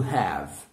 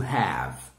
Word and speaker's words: have: Now, lembrem que quando o verbo termina com E, não pronunciem, ok? Vai, acaba ali na consoante. Então, ao invés de falar have, right? Que é uma outra coisa em inglês, eu vou falar have.